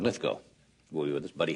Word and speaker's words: Lithgow: to say we have I pronounced John lith Go's name John lithco and it's John litho will be with us